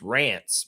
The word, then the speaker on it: Rance: His name rhymes with Lance. There you go. Smooth. Got it. He didn't spell it exactly right, but it's Rance.